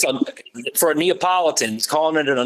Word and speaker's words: Neapolitan: the top every breed that he mentions he mispronounces the breed name it's a for a Neapolitan he's calling it a Napoleon Mastiff and you know Kane Corso is a